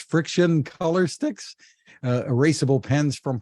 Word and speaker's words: FriXion: for good challenge involving uh I guess it's pronounced friction color sticks erasable pens from Pilot tell us